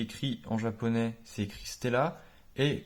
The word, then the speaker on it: Stella: c'est écrit Stella et quand les Japonais le prononcent ils disent Stella et pas stellar et c'est pas une un problème de prononciation quoi c'est que Ben le le r n'y est pas du tout c'est le mot Stella